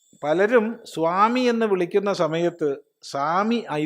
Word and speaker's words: സ്വാമി: സ്വാമി എന്ന് പറഞ്ഞാൽ യജമാനൻ സ്വാമി എന്ന് തന്നെ പറയണം സ്വാമി ഉച്ചാരണം ശരിയാവണല്ലോ അല്ലേ ഇത് പണ്ട് പൂർവികന്മാർ